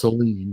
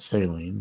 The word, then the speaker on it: Celine: He talks sometimes pronounced Celine, not Saline, but never mind.